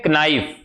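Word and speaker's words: knife: जैसे एक शब्द है के एन आई एफ ठीक है यह है नाइफ लेकिन पढ़ते क्या है नाइफ पढ़ते हैं साइकोलॉजी स्पेलिंग पी से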